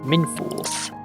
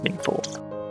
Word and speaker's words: Machynlleth: And then as we carry on down, we end up at Machynlleth. I believe is how it's pronounced. I think I know how that one's pronounced. I believe it's Machynlleth.